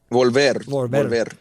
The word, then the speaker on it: Volver: Volver.